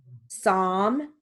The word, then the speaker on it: psalm: now moving on to silent l words with sentences so we have half palm talk psalm walk folk all right here